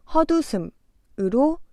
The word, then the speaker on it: 헛웃음: 헛웃음은 받침 시옷이 디귿으로 바뀌어 헛웃음으로 발음하면 됩니다. 헛웃음.